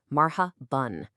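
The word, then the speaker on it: مرحبا: We all hear that N sound at the end, right? Mara bun. But if you look at the way it's written in Arabic, there's noon. That's the N letter anywhere in sight.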